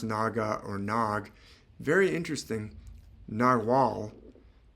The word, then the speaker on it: Naga: the word is spelled Naga or n it's pronounced Naga or nag very interesting Nagal and nag are